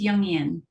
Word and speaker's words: Jungian: She is the founder of InVision Feminine Leadership, a Jungian Life Coach. Did I pronounce that right? It's Jungian.